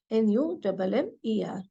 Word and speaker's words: Nummer: N-U-M-M-E-R. Here, if you see, there is a just U without umlaut. So it is pronounced as Nummer.